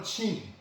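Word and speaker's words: 秦: 통일한 진, 중국 발음으로 친, 이게 우리 한문 발음으로는 두 진나라가 다 진나라지만 여기 삼가 분진의 진은 찐이고 천하통일한 진나라는 친이라고 발음하기 때문에 구별이 되죠.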